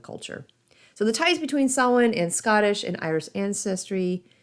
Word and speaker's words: Samhain: the word is spelled sin doesn't look like it should be pronounced as we do it is spelled s m